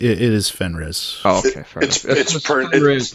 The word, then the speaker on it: Fenris: The pronunciation, it is Fenris.